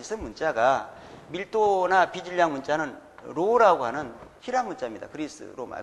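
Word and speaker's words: ρ: 발음은 로라고 합니다.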